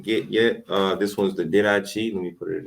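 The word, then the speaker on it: Didache: Some people pronounce it a Did I K, but I say Did I Cheat because that's how it's spelled to me.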